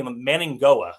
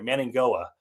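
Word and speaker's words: Mauigoa: There's got to be Manning Goa. It sounds like an NG in there. Manning Goa.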